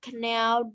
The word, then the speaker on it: knelt: Ok, the people knelt không phải không có chữ k nha, chữ n thôi.